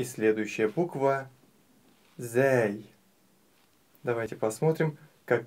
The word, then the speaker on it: ز: точка сверху А теперь научимся правильно произносить букву зй буква зй мягкая зй зй зй некоторые её путают